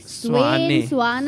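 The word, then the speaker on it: Svane: How do we pronounce his surname, by the way? Frederick Swane, everybody Swane.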